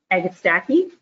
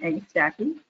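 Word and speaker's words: Agastache: absolute favorite plants and i pronounce this agastacky i've heard it pronounced other ways but we're going to settle on egg stacking sometimes called hummingbird mint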